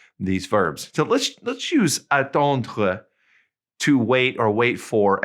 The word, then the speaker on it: attendre: Okay, notice it ends with that RE and it's pronounced kind of glottally. Attendre. It's kind of back in the back of your mouth, okay?